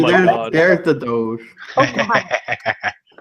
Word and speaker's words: Doge: I know it's pronounced Doge, but it's Doog to me because Doge. I just see like how someone with like learning difficulties would say it, and that's how I say it.